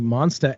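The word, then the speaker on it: Monstah: time we're doing the monsta expo uh that is spelled m-o-n-s-t-a-h because it's it's in massachusetts so it's got to be hilarious so it's the monster monsta expo just xpo and it's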